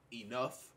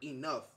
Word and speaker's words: enough: the word but however on the word enough as the GH is at the end of the word you say the F sound not to be confused